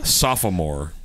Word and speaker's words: sophomore: one the other one was sophomore yes because they always emphasize what is that the second part of the word or